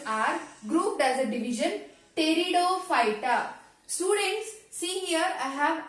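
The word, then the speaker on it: Pteridophyta: p is silent here so here p is silent so only we need to pronounce it as a peridot okay it is a peridot phyta don't pronounce p but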